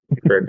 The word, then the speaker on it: creek: So how do you say the word spelled Creek? Creek. Creek, yeah. Yeah. Crick. I grew up probably calling it crick more than creek, but In my mind,